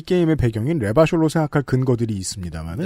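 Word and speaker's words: Revachol: 그 자막에 보면 레바숄은 레바숄이라고 발음하라고.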